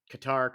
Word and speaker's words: Qatar: World Cup we're in Qatar cutter however you want to pronounce it um and this